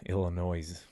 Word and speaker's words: Illinois: here but Illinois yeah Illinois or or the Essex s is silent pal uh but no